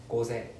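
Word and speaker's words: 午前: Then the other way is, you can see gozen, right? The pronunciation. So gozen. Then zen is flat. Gozen.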